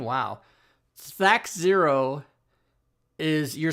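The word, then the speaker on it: THAC0: I'm saying that's how it should be pronounced because it stands for to hit armor class 0. Not oh.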